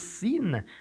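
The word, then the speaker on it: שׂ: Et quand elle est pointée à gauche, elle se prononce Sine.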